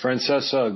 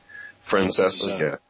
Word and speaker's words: Francesa: gripe with this Francesa it's Francesa guys the sea is silent it drives me crazy when people can't pronounce names right Francesa Fran it seems like